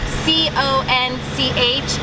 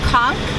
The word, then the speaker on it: conch: And also a C-O-N-C-H is pronounced conch, not conch. So we hear a lot of tourists coming in asking for conch fritters, and the Bohemians will roll their eyes at you if you say that.